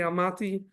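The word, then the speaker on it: Almaty: away in the city alata Kazakhstan which is the main or maybe pronounced today almati um and that's where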